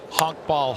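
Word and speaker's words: honkbal: with an incredible League the honk ball H to I believe is how you pronounce it uh the the Bundesliga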